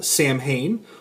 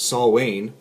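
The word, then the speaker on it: Samhain: little something like this uh Sam Hayne or it has a pronunciation here which is I guess saw Wayne um an ancient Celtic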